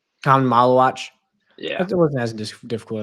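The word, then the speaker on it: Khaman Maluach: it's is it Khan Malawach? I believe Yeah, that's how it's said. Common Malawach.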